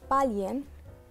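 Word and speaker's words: 巴林: بحرين تنطق، البحرين سهلة بتكون باليين.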